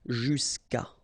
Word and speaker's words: jusqu'à: Okay, and then phonetically, jusqu'à.